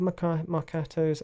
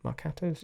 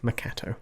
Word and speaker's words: marcato: Marcato we don't have marcato's I think that's how you pronounce it marcato's yeah apologies for those who are probably triggered it's actually pronounced Marcato not makato it's Marcato that we don't have